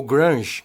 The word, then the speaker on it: grunge: eu pelo menos não a palavra grunge ou grunge como é pronunciada em inglês é uma gíria criada